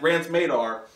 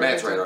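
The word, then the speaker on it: Mance Rayder: But the problem is that Rance Madar... Did I say it right? Mance Radar, Thank you.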